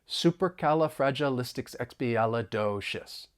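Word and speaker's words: supercalifragilisticexpialidocious: mind those stressed intervals supercalifragilistic xous super fragilis in total the word has 14 syllables and I'll say it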